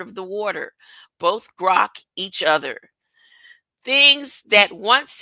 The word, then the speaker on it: grok: I heard the word frog this week accordingly grock is generally pronounced as gural gr terminated by a sharp